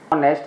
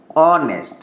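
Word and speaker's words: honest: ए ब शब्द जोने ऑनेस्ट प्रोनंसिएशन जो तो से ऑनेस्ट मीस के एच ए साइलेंट छ तो उच्चारण आप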